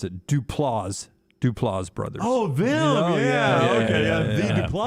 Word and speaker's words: Duplass: Mark said I mispronounced it. Duplass brothers.